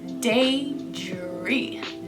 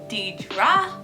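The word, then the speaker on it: Deidre: about who i am my name is day dre daydre it's spelled d-e-i-d-r-e i know a lot of people confuse that with didra and that's not the case that's not how my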